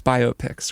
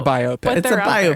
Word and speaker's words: biopic: It's biopics, right?